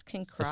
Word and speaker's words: Kinross: He resides at Kinross Correctional It's King Cross.